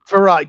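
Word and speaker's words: Frerotte: Farat. Gus. Farat. Oh, Farat. How do you get farat out of that?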